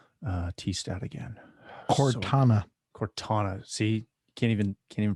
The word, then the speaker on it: Cortana: There goes my dreams of a Cortina T-stat again. Cortana. Cortana. See, can't even pronounce it right.